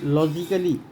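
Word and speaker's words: logically: फिर दूसरा आप देखेंगे लॉजिकली, तो यहाँ पर मैं निशान लगाता हूँ जहाँ जहाँ पर क्या है कि ये साइलेंट रहेगा। ये ए साइलेंट है, लॉजिकली में ए साइलेंट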